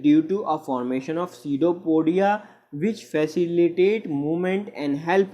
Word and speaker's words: pseudopodia: These are called pseudopodia. Pseudopodia, यहाँ पर P silent होता है।